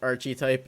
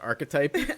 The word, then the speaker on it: archetype: appreciate that Archie type is both he is an Archie type, but it's also an incorrectly pronounced archetype. Archetype.